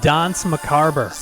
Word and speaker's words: Danse Macabre: if you don't mind, if you So it's pronounced Dance Macabre.